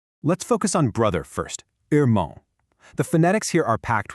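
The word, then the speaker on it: irmão: In a lot of Brazilian dialects, that R is actually pronounced from the back of the throat, almost like an English H.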